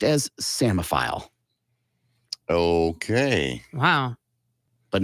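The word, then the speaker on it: psammophile: h i l e which is more easily pronounced as sfile okay wow but not spelled samile okay what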